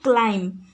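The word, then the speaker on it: climb: क्लाइंब क्लाइंब रे पिला माने देख आमे पढ़ू क्लाइंब क्लाइंब बीटा हमर ओइह रहउछि तो बी हे गला हमर कौन साइलेंट लेटर एठी से कर देछि।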